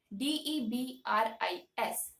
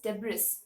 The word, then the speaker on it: debris: r i s but since there's an S uh at the end of the word people call it as debris which is wrong the actual pronunciation is debris debris three the last